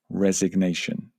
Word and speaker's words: resignation: She actually resigned. That's another important business verb. And the relevant noun would be resignation. Be careful with the pronunciation there. To resign. Resignation.